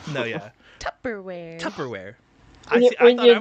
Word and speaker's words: Tupperware: that you put your left doors in Tu tubberware yeah tubberware I didn't want to say the word because I didn't I wanted to see if you could say it right or not no yeah Tupperware Tupperware I I thought I was in the